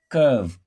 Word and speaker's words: curve: We have UR here as in turn, burn, and so on. Curve, curve, curve. Write a curve, CURVE, curve, not curve. We pronounce the UR as long But in this word,